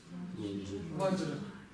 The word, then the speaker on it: ваджра: Нет, ну не ба, я же сказал, что в данном случае, в данном конкретном случае ба произносится как ва.